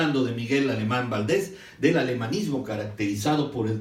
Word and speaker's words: Valdés: semana pasada, por cierto, Valdés se escribe con S y con acento en la E, y el acento en la E, Valdés, que es curioso porque yo siempre lo escribía sin acento y con Z, pero es Valdés con acento en la E y con la S de Samuel.